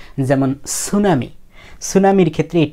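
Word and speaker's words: tsunami: সু এখন কথা হলো টি এর পরে এস থাকলে কিন্তু এই টি এর উচ্চারণ হয় না যেমন সুনামি সুনামির ক্ষেত্রে টি এর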